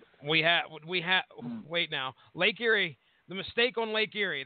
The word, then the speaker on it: Erie: Yes, Lake Erie. I believe it is pronounced Erie, by the way. I thought it would be Irie. Isn't that like a Jamaican term? But they were referring it to as Erie in the video I watched.